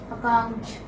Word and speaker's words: account: There are two syllables. The second syllable is a stress.